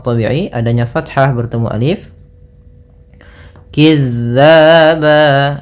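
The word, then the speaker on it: كذّابا: Kizzaba. Nah, hati-hati kembali dalam pelafalan huruf zal.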